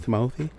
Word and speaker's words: Timothée: Timothy is his name. Timothy. That's how you say it. Timothy. Is it D nice too? Yes. He was on Kimmel and he said that's how he says his name.